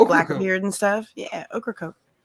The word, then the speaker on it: Ocracoke: blackbeard and stuff yeah ocracoke it sounds like there's an okra coke that's yeah pretty much how it's pronounced outer but where's the